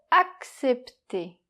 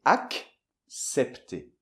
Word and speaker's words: accepter: Mais là, comme il y a un E après, c'est différent. Donc on doit faire, "Ac", premièrement - Oui ! - Et après, "cepter" - D'accord. - ça fait accepter.